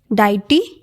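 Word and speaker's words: deity: तो first confusing words है डाइटी, इसको डेटी भी बोलते हैं, दो प्रोनाउंसिएशंस है, डाइटी और डेटी, राइट.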